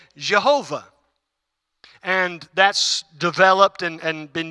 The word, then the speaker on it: Yahweh: Well, they took the Hebrew letters for the word Adonai, the vowels from Adonai, and put it on Yahweh so that they wouldn't run the risk of accidentally, even though it doesn't have any vowels, saying the name of God.